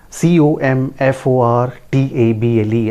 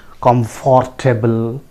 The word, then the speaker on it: comfortable: Many of us pronounce it comfortable, like that. That is not the correct pronunciation. So the correct pronunciation is comfortable. Comfortable. See the phonetic symbol here. It is pronounced as comfortable.